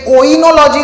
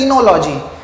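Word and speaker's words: oenology: फिर बाद में इनोलॉजी, ये ओइनोलॉजी नहीं है, इट इज ओ is silent, it is called as इनोलॉजी।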